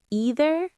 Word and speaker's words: either: And don't forget the pronunciation. Either or either. Both are fine.